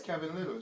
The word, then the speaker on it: Kevin Lyttle: the official little twitter account it's a it's kevin little just straight kevin literally well you ought to